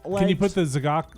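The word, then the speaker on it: Z'Gok: Can you put the Zagok? Zagok? Is that how you say it? I always say Zigok, but Zagok is probably right.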